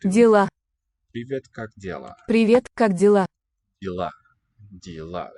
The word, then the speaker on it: дела: Dela. Accent on the last syllable here.